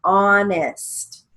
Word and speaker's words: honest: it across the board if it has a silent h we still use the h so let's look at the first line honest h-o-n come back for